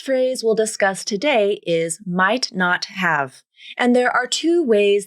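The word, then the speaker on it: might not've: Then the T in might turns into either an unreleased T or a glottal stop.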